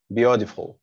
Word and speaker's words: beautiful: ممكن تنطق التي دي خفيفة. Beautiful.